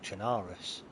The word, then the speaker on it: Chernarus: now, and the actual map is actually called Chernarus, if you pronounce it correctly.